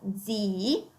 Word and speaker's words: zii: Quindi abbiamo zio, zii, una doppia i proprio per via dell'accento, altrimenti sarebbe pronunciato come zi, invece è zii, ok?